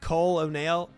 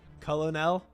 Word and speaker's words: colonel: I we went to KFC and said it phonetically. Uh, wait. Said what, Colonel? Uh, excuse me, sir. Would you be Cole O'Neal? O'Neal. I might who might be asking Colonel. Oh, Colonel.